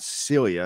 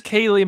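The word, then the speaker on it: Ceili: pronounce her first name it's not Celia is it it's Kaylee McCabe thank you for asking for help Robert yes you got to learn how to pronounce that because she's going to be a factor as well but it's spelled even though it's Kaylee which you think would be k-a-y-l-e-e it is c-e-i-l-i so Kaylee McCabe is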